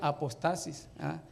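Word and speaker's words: ἀποστασία: Ok, miren, la palabra apostasía está en griego, que se pronuncia apostasis.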